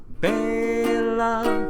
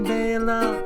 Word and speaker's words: Bela: The song is wild, I really like its style, but they say his first name wrong. It's Bela. Ba-dum-ba. That is how you say Bela.